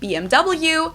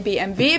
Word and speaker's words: BMW: English and in German in English people say BMW in German we say BMV because W is pronounced V in German and it stands for